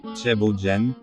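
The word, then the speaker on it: thiéboudienne: de protéines animales sénégalaise le plat national et le tiboudienne prononcé chebo Jane qui est un mélange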